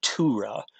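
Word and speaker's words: Tughra: the it's called a Tora that's how you pronounce that word you don't you don't really pronounce the G there at aura of the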